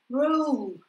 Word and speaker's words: roll: Я хочу слышать эту «у» в конце вашего звука, да, когда вы его произносите. «Home», «roll», «phone».